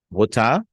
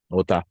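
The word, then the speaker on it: قطعة: Gut'ah, like qit'ah, a piece. Gut'ah.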